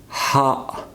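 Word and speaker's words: ح: Ha, just like English letter H, but you need to just pronounce Ha. Just try to squeeze your throat and just say it.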